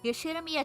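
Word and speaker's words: Ushiromiya: His name is, insert pronunciation here, pronounced Yoshiromiya George.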